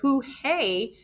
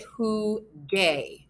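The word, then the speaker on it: jugué: gaste go gamosgaron but who hey has this soft G sound when it comes before an e so to make it sound like the others what happens in Spanish is we are going to add in the letter why did that not add in I don't know we're going to add in the letter U and we're gonna get who gay now it sounds like the others and who gay actually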